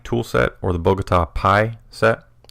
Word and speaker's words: Pi: set, or the Bogota Pi set. It's spelled with a P and an I, and the joke is they're 3.14 inches long. Pi, the math thing.